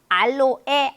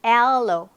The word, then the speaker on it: aloe: 알로에, 코코아, 카페인, 네, 제가 요 부분 같은 경우는요, 발음을 보시면은 aloe, 알로에 아니고 aloe.